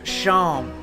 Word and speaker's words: Seam: The name's Seam, pronounced Sham.